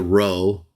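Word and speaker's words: rho: to that is a row it actually looks like an English P but it's a Greek R sounding word or letter and then after that is the letter Omega so Pi row Omega to that's T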